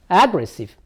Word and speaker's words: aggressive: Aggressive.